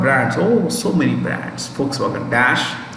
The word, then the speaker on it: Volkswagen: Volks, the V is pronounced with an F, it's German. Volkswagen, wagon is car, Volks means people, people's car is Volkswagen, right?